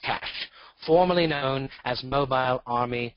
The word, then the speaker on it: CSH: a combat support hospital, a CSH, pronounced CASH, formerly known as Mobile Army Surgical Hospital.